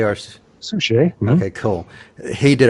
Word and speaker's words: David Suchet: David Suchet or Suchet.